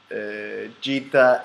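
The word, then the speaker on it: Jita: And Cheetah is spelled like this, G-I-T-A, and Amar is spelled like this, just like the Amar race.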